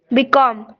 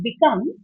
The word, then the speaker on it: become: Become. Begin. Began. Begun. Very good. Very good. So uh Sita when you're pronouncing become I think you are stressing that come. Become it's not become.